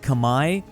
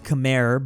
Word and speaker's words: Khmer: Here we go, Southeast Asia with Khmer. I know this is spelled Khmer, but technically it is Khmer.